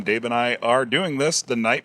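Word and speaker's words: Tao: of uh Jack Bower da to T it's pronounced da all right the da of Jack bow and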